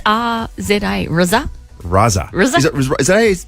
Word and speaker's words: RZA: So if it's pronounced like SZA, the recording artist, which is S-Z-A, so maybe it's RZA?